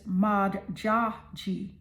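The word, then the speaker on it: Modjadji: This is the goddess Maji. Her name is spelled M O D J A D J I.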